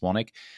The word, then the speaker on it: Swanwick: That's how it's spelled, Swanwick, but it's pronounced Swanwick.